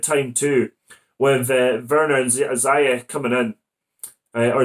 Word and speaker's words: Ziyech: Pulisic really catching the eye since the return, and perfect time too, with Werner and Ziyech coming in. Or Ziyech, I think it's actually pronounced as.